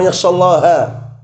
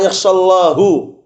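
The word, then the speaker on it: يخشى الله: Bacanya benar itu ya, innama yakhshallaha. Tapi mereka ubah harokatnya. Innama yakhshallahu min ibadihil ulama.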